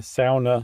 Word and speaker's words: sauna: no we got uh when we did our SAA episode every finished person in the world wrote in and said it's pronounced SAA wow great nicely done yeah I'm